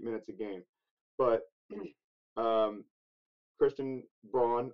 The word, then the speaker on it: Braun: But Christian Braun, I refuse to pronounce it Brown. That's not how that name's spelled.